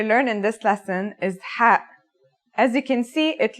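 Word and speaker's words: ح: It sounds like the sound you make when trying to cool your mouth and throat after eating something very spicy. The closest English counterpart to the sound is H. The only difference is that it comes from a point deeper down in your throat, just like this.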